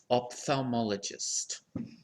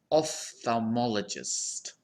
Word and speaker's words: ophthalmologist: two common pronunciations so the first syllable can be pronounced as op or off okay so first op thermally gist of Psalm ologist ophthalmologist or we can pronounce this first syllable as off ophthalmologist off FAL mala gist